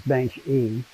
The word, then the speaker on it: baenschi: how it's pronounced natively you pronounce it the way the person's name is pronounced says bench e this fish we lost